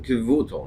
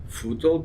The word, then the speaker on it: Kevuto: He made a simon Kevuto, not Futo, Kevuto.